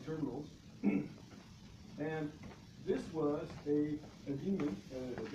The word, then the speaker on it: daemon: Okay, so these are all my terminals, and this was a daemon, a diamond.